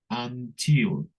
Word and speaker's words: until: cómo cómo lo pronunciamos until until aquí la u la u suena como a until until y y esto